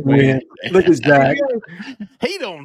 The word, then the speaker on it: Nguyen: Is it like Nguyen? It's Nguyen in Jewin. Believe it or not, I think you pronounced that win. Don't call me crazy. In Jewin. It's pronounced win.